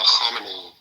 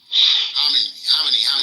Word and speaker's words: Khamenei: He's Ayatollah Khamenei. Khamenei. Not Khomeini. Sorry. Khamenei. Sorry about Khamenei. Khomeini was the one that took over at the beginning of the Revolution, 1979. Yes. Yeah, Khamenei. But it looked like it's spelled the same, Khomeini. Yeah, it's the same, yeah.